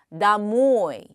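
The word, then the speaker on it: домой: 그래서 나모 역시 액센트를 받는는 높고 길고 강하게습니다 다모이 나모이 나모이 예 앞에 뒤에 앞에 있었던 마라는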